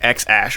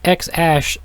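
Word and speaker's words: X Æ A-12: So, yeah, So the name is X Ash. 12. A-12 is silent.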